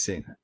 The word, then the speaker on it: Singh: It is Singh.